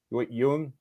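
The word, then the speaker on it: Yeun: do you say his last name y Yang Yung Yang Ricky help me Stephen Yun Yun yeah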